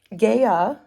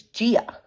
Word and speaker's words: Gaia: And then I Googled it, and it turns out that Gaia, who I thought was the way that you pronounce the Earth goddess's, Mother Earth's name, but it's Gia. It's like my aunt's name.